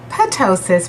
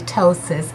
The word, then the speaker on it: ptosis: the surgery the ptosis I used to call it pentoses because it start with spelled with a pee but it's actually ptosis and that's pretty much